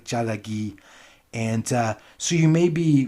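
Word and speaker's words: ᏣᎳᎩ: Actually, it's pronounced something like jalagi, and it means Cherokee in the Cherokee language. I'm probably getting the tones wrong, but it's something like jalagi.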